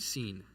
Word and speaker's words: Sin: moon god uh named seen it's spelled s in like sin but um it's not the same concept as sin for us um so that it